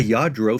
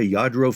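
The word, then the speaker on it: Lladró: Eventually, you'll probably be able to recognize a Yadro figure. Now, you may or may not know what a Yadro figure is right now. And by the way, it's not spelled with a Y.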